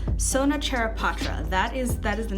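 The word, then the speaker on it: Sona Charaipotra: not gonna have you sit and hear we butcher the name it's Sona chair of Patras that is that is the name of this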